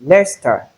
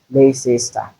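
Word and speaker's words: Leicester: Note the pronunciation of the word especially the last one we have two syllables and not three. It's lester and not leester as some people will pronounce.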